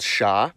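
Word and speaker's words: Ш: It's called sha. It's used in every cerillic script language. And as you can guess, it sounds like sh.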